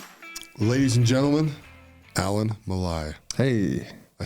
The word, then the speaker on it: Malae: host Mark McCormack ladies and gentlemen Alan Malai hey I said it right yeah you said